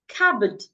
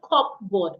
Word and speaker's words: cupboard: Cupboard. The P here is silent. It's not cupboard or cupboard.